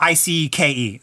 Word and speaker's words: Icke: matrix is it it is his name a key or Icke it's AI it's IP okay so it's IC ke David Icke I'm gonna make sure